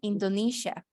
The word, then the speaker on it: Indonesia: muy bien Indonesia Indonesia en inglés se escribe Exactamente igual pero se pronuncia diferencia diferente se pronuncia indoniza Indonesia Ajá y Ucrania